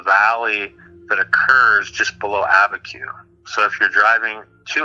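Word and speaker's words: Abiquiú: This is the original pronunciation for abacu. So abacu is a Spanishized version of the Tewa word Aveh Tsugeh.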